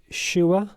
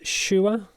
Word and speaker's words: Shuoer: I think it's pronounced Shuoer, not Shure.